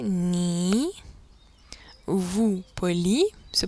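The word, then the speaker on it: 你: tu donc le pronom personnel tu ni est prononcé ni vous poli se prononce nine nine on voit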